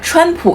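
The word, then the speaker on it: 川普: The word Chuan pronounces similar to Trump, but Chuan refers to a place, Sichuan, not a surname. By the way, we call Donald Trump Chuanpu in Chinese, literally meaning Mandarin spoken with a Sichuan accent.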